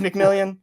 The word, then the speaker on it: McMillian: I have no idea it's spelled like McMillian but it but I I've only heard announcers say McMillan I was literally watching his college highlight last night because I don't like getting names wrong to try to hear what announcers are saying and they were saying McMillan but then it's spelled mcmillion I don't know so yeah you should go watch that it is mcmillion yeah well now I'm